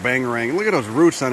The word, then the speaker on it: Whangarei: to you near uh whangarei New Zealand up there on the North part of the North Island looks like Wing array you could pronounce the Bangarang too so I've been calling it bang ring look at those roots